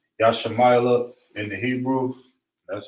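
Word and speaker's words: ישמעאל: Ishmael in Hebrew is Yashamayla.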